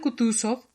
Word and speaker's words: Kutuzov: El general Kutuzov repuso anunciando la última sílaba sov como un francés, quitándose el guante de una blanquísima y minúscula mano y frotándose con él los ojos.